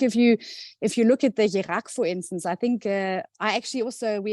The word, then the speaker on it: Kjerag: Yeah, Skjerag is like the Norwegian, how you kind of pronounce it up here.